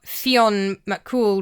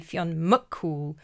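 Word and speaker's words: Fionn mac: It is implying that Mongan is a reincarnation or Fion Mool reborn. I apologize. I keep saying Mac and it should be Muk.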